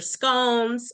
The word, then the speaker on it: scone: then you get your scones or you know scones it can be scones or scon pronounced in English um or and then